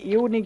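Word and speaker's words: unique: এখানেও কিন্তু আমরা দেখতে পাচ্ছি ইউ প্রথমে ব্যবহার করেছি। ড্যাশ এর জায়গাতে দেখো আবারো এন ব্যবহার করা হয়েছে। তারপরে আবারও কিন্তু আই রয়েছে। তাই আমরা ইউ কে ইউ এর মতই উচ্চারণ করব।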